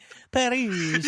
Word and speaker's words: Perugia: I went on Wikipedia and I pressed the pronunciation little sound they have. Oh, did you? Perugia.